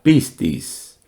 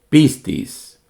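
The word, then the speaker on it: πίστις: Por ejemplo, la palabra fe en griego se pronunciaría de esta manera, pistis, pistis. Y el verbo creer se diría pisteuo, pisteuo.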